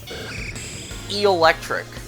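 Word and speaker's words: Eelektrik: You put an emphasis on the eel part since, you know, it's based on an eel. Electric.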